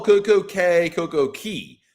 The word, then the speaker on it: Cay: Uh Ben, why do some people call Coco Cay Coco Key? Because Key is the proper Bohemian pronunciation.